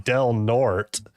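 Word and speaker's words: Del Norte: I'm like, "Okay, how do you say the name of this city?" And she was like, "Delnort."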